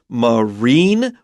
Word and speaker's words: marine: going to see the word marine which is emphasized on the second syllable and that just means